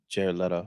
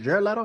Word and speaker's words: Jared Leto: Margaret Robert the first one had Jared Leto Jared letter yeah is it Jared Leto that's how you say it yeah um it